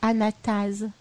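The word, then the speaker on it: anatase: C'est Anastase ou Anastase? Alors, ça s'écrit A-N-A-T-A-S-E.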